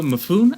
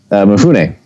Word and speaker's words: Mifune: This film stars Toshiro Mifune. I don't know if that's how you say it. Chris, you might know better than me. Mifune. Mifune. That sounds a lot better.